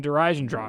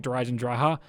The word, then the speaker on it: Der Eisendrache: otherwise by the way I will continue to pronounce that wrong I know it's supposed to be like der eisendracha but whatever all right